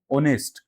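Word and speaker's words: honest: तो आपने देखा इसमें जो एच है ये साइलेंट थोड़ा सा प्रोनाउंस होगा। क्या बोलेंगे? आई एम ऑनेस्ट, आई एम ऑनेस्ट।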